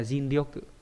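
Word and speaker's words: 尽: cùng hay là hết hết sức hay là zin là trận tận lực nhá đọc là zin r đây là chữ thích chữ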